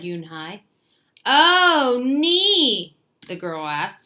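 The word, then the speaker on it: Unhei: It's pronounced Yunhai."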